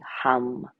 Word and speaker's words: hum: As you exhale silently, say hum, H-U-M.